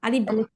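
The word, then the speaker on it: ألف: তাড়াতাড়ি বলব আর হচ্ছে শেষে কেউ পব না বা বব না আলিফ আলিফ এরকম বলব না আমরা হচ্ছে আলিফ বলব শেষে আলিফ আলিফ হ্যা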